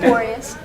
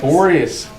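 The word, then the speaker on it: Boreas: How you pronounce it? Borius. Borius. Borius.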